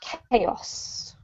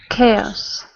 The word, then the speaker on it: chaos: mag activity Aon says thanks C this one's pronounced chaos chaos great and can you continue with violent movies